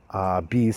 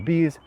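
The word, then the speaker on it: Beeeees!: Now I did mention Bees, the Dan Halstead game about bees trying to collect nectar. And that one is spelled B-E-E-Z.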